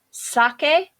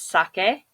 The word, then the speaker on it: sake: Sake is not sake to drink. It's sake.